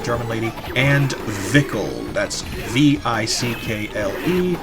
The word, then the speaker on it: Vickle: That's V I C K L E. Vickle rhymes with sickle or pickle.